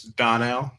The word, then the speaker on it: Donnell: It's Donnell. Yeah. Oh, you emphasis on the Don. You got to. And also, I was soft playing the Don part there.